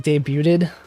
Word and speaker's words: debuted: I've been saying it like debuted until now, and I looked it up and I had, you know, Google Translate pronounce it for me. It's debuted.